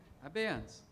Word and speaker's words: abeyance: Abeyance. You say abey, so I thought it was the A sound. Well, that's the pronunciation.